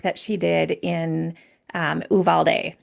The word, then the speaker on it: Uvalde: some special work that she did in um Uvalde Uvalde say it right yeah Texas um after the